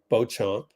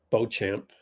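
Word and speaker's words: Beauchamp: block on Maran B Bo champ Bo champ he doesn't pronounce the name like the French it should be Bam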